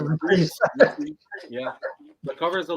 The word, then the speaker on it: Reprise: Reprise, actually. You pronounce it reprise.